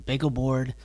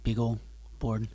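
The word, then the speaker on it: BeagleBoard: TI built this uh The Bagel board and um um maybe I said it wrong beagle board oh the Beagle board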